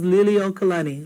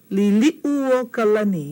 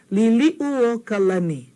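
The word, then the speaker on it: Liliʻuokalani: Everyone says liliokalani, liliokalani. See this u, it gets left out. Okay? Liliu. Liliu kalani. You say that. Liliu kalani.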